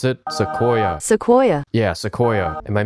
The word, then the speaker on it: Sequoia: That's how you pronounce it? Sequoia.